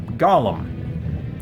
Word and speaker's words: Gollum: His name is spelled, if I remember correctly, Gollum. Gollum. The character from the Lord of the Rings who was obsessed with his precious, right? That's Gollum. Golem is Golem.